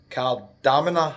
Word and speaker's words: Kardamena: We're at the Stergia Apartments in Kardamena, I think it's called. That's how it's pronounced.